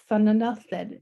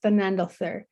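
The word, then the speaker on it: Thanadelthur: and in networking is there's a couple ways to say her name depending on where you're from. Thanandalthid is how I know to say her name, but others know her as Thanandalthir.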